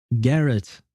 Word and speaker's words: garrote: Oh, Garrett monowire. I guess is how you should pronounce it, right?